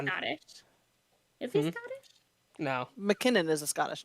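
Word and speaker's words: MacKinnon: But it's Mac, not Mick. It's pronounced McKinnon.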